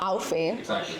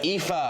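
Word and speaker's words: Aoife: It's not Alfie. It's not Alfie. It is EA.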